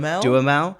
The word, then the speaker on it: Duhamel: Duhamel.